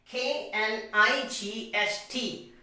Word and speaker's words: knight: there is another k and that comes before the letter n so k becomes silent now the next example